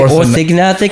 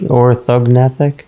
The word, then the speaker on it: orthognathic: Orthognathic? There's 2 G's? There's 1 G. 1 G? I thought it was a silent G because, you know, I thought so too. like gnome. Yeah. Nathic, like nathological principles.